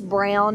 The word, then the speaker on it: Broun: There's a Georgia representative, Paul, I think it's Brown. It's spelled a little different, Broun.